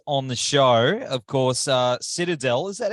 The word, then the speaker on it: Citadel: Of course, Citadel, is that how you pronounce the band name? Sure is. Citadel, yeah.